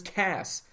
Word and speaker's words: Cass: C in just because his name was Cass and it rhymes with ass for all the people